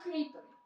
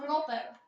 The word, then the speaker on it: Creeper: OK, tu sú creepery. Aha. Kroper. Creeper. A ďalší kroper. Bežte do Ty jak vyslovuješ kroper? Ale ja to vyslovujem zo srandy, vole.